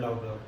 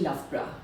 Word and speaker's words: Loughborough: lra lra okay yeah it's very different from what the spelling is yeah so that's why